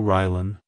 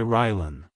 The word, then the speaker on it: Rylan: Keep the emphasis on the first syllable. Like, hello Rylan. Goodbye Rylan.